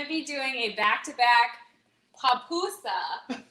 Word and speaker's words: pupusa: be doing a back-to-back papoosa how do you spell that it's pupusa actually and it's p-u-p-u-s-a okay um that's a word that you know everybody gets wrong but it's okay you